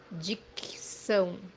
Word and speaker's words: dicção: dicção, as you see, here we separate the word into two syllables. So the first C or C is pronounced as K or K, and the second one is pronounced as S, dicção.